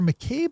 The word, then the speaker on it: McCabe: at in headlines let's quickly thank our sponsor McCabe law of Brunswick Maine which is the firm